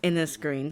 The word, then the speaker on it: Innisgreen: Okay, so it is pronounced Innisgreen. I wasn't 100% sure how we were supposed to pronounce Innisgreen, but it's just what it looks like.